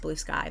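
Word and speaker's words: Bluesky: I know it's pronounced blue sky, but I say blue ski because it looks like blue ski.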